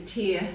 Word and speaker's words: tear: make you different sound so tear tear so we're getting that different sound happening there so you really have